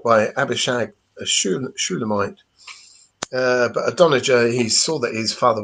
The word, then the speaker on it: Adonijah: Yeah, I remember his name, how to say it and everything, because it says that Adonijah was a very, very good looking, as people might say, like an Adonis. Adonijah.